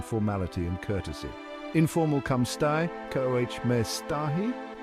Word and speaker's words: stai: The I at the end of stai is pronounced like a soft E.